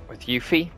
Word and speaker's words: Yuffie: We're not gonna have to worry about going round for things all the time with Yuffie. I said it right that time. Didn't say Loopy that time.